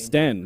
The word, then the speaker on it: Ropsten: They've officially done the London hard fork on the Ropsten or Ropsten. I don't know how you pronounce that. Ropstein. Ropstein? Or Sten? Ropstein or Ropstein. Sten. There's no I in there. It'd be Sten, I think.